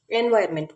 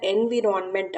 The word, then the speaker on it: environment: இவ்வளோ நாள் நீங்கள் இந்த வேர்டை, அதாவது ENVIRONMENT இந்த வேர்டை என்விரான்மெண்ட் அப்படின்னு ப்ரொனவுன்ஸ் பண்ணியிருந்தீங்க அப்படின்னா அது தப்பு. இதை வந்து என்வாயர்மெண்ட் அப்படின்னு சொல்லணும். ஓகேங்களா? இப்படி தெரிஞ்சிருந்ததுன்னா குட். தெரியாதவங்க தெரிஞ்சுக்கோங்க. இது என்விரான்மெண்ட் கிடையாது, இட் இஸ் என்வாயர்மெண்ட்.